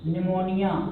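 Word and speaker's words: pneumonia: अब बात करें, यहाँ पे लिखते हैं निमोनिया, तो इसमें साइलेंट रहता है निमोनिया, हिंदी में भी निमोनिया ही लिखेंगे।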